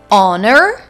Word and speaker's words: honor: our next words are honor and honest here also I don't pronounce the first letter H and the last letter